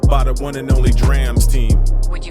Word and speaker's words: DRAMS: dreams first and foremost it's pronounced drams not drums not drums what you got in